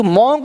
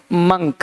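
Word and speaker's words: monk: एक है मॉन्क, अब देखो लोग बोलते हैं मॉन्क, ये मॉन्क नहीं, मंक, क्या पढ़ना है, मंक।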